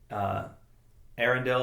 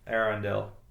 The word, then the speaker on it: Eärendil: Eärendil I think is fine, but the umlaut over the two dots over the A I think makes you're supposed to pronounce it a little more deliberately.